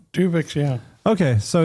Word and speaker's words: Tuvix: Tuvix. Am I saying it wrong? Tuvix, yeah.